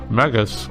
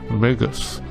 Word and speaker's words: Magus: the antagonist pronounced either magus or magus. Both names come from Greek, and as far as I have come to learn, Greek vowels are traditionally spoken as contemporary long vowels in English.